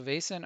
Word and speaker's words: Vaesen: allows you to see the vassen or Basin is pronounced so Basin are they have the